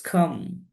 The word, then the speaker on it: calm: It's calm. Because here L is silent.